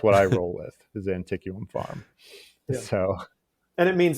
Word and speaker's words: Antiquum: asked her and and she told us that there's actually no correct pronunciation because nobody really knows um i've always rolled with anticum uh because i just like the way it sounds i don't like and and the one pronunciation that that she said would not be correct because i think you're supposed to just like use all the vowels uh was it was was antique um but i think